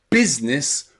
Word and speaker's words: business: letter i is a in the word tber tber okay okay the letter i is also very very